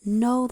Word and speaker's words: know: And it's spelled with this silent K. And this is know like to understand.